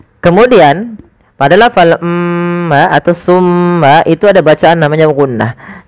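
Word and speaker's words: ثم: Ketika kita melafalkan tsumma, usahakan kita menahan suara mimnya. Tsumma dan harus hati-hati di dalam melafalkan tsa. Jangan sampai huruf ini terganti dengan huruf sin. Maka misalkan terdengar bunyi summah.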